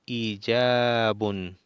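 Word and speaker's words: إيجاب: Ijab, prolongación de la i.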